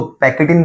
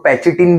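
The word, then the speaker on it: pachytene: सीख जाओ लेप्टोटिन ज़ाइगोटिन पैकीन आप इसको पैकेटिन बोल सकते हो आप इसको पैचिटिन बोल सकते हो आपको जैसा प्रोनाउंस करना है वैसा अगला वन इज़ डिप्लोटिन फिर डाईकाइनेसिस।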